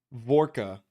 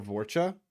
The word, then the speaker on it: Vorcha: was wanting to reference vorka or vorcha vorka I think it's how it's pronounced they're essentially like the